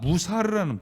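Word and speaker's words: מוסר: 히브리서로 보면은, 그 히브리어로 보면요, 발음이 그 단어가 무사르라는, 무사르, 이 단어의 뜻은 범죄한 자에 대한 처리를 의미하는 거예요.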